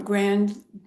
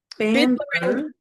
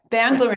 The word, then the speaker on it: Bandler: Um neural linguistic programming started from grandler and binder. Am I saying it right? You've got them mixed up actually. You've mal. So it's Bandler Bandler and John Grinder. Yeah. Bandler and Grinder.